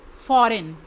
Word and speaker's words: foreign: Number 5 foreign, FOREIGN, इसमें G silent है।